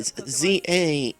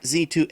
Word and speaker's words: Z-A: they did Za Isle okay Za not z2a the story takes place